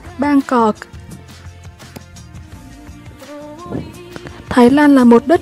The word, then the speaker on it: Bangkok: Có phải các bạn hay đọc là Bangkok đúng không? Nhưng mà cách đọc chính xác của nó phải là Bangkok.